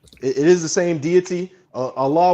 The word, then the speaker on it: Allah: Allah would be the correct pronunciation it's the same of name.